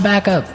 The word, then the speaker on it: backup: I think though it's important to point out that here the pronunciation and stress of this phrase is really important. Hey. Yes. Yes. You have to say backup.